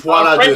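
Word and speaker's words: Folie à Deux: for Joker 2, I can't even pronounce it, Folie à Dieu, is out. Folie à Dieu. Foie à deux. French guy can. Let Dave pronounce it.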